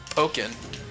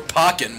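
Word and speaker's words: Pokkén: Greninja and of course is it pronounced poken I guess or pocken whatever I I I pronounce as poin yeah because like there's like two k the because 2ks then it's pocking yeah if it's 2ks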